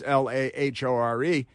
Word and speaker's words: Lahore: because there is a city in the Punjab in Pakistan called Lahore, but it's not spelled like la prostitute. It's Lahore, and it's in Pakistan.